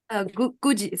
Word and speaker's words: Guji: Uh Guji Guji, sorry. Guji, I'm sorry. It's okay. It's a Chinese pronunciation.